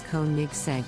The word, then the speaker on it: Koenigsegg: The correct pronunciation is KOENIGSEGG with the emphasis on the first syllable. Here comes the twist, KOENIGSEGG is actually pronounced almost similar to how it reads. The exception is that the sound of letter E is not present in the pronunciation.